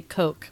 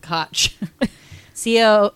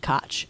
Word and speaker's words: Koch: Ed Koch, which is so hard to say because you want to say Coke, but I think he pronounced it Koch.